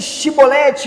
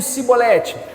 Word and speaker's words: chibolete: Então, o que era esse chibolete e o cibolete? Só falava chibolete quem fazia parte daquele ambiente. Quem vinha de fora tentava falar um cibolete, tentava pronunciar, a palavra não saía legal.